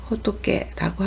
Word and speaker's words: 仏: 부처나 석가를 나타낼 때는 호토케라고 하고요.